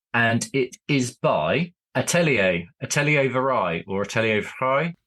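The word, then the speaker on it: Atelier Vrai: it's from Germany and it is by atellier atellier verai or aell how do you spell that just in case people want to follow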